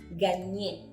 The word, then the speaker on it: gagner: Comme par exemple, el verbo ganar en français, gagner. Gagner. ¿Vous voyez? Si bien no está escrita una ñ, el sonido sí se hace cuando vemos una G con una N, la Y con la N, ¿ok?